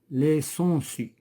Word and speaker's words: sangsues: les sangsues. هنا ما نطقناش جي. les sangsues كنقول ما نطقناش جي وهاد اس الاخرى ديال البلوريال etc.